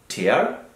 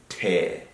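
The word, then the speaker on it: tear: are very much mistaken it's not here it's Tay Tay okay the past form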